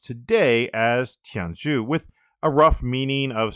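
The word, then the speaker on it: 天竺: Now, the Sinitic characters used to denote this region are pronounced today as Tianzhu, with a rough meaning of center of heaven,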